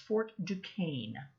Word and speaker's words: Fort Duquesne: and the main one is one it's actually pronounced fort duquesne so the british governor of virginia uh he